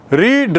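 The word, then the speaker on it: read: Spelling एक ही रहेगी, उच्चारण थोड़ा बदल जाता।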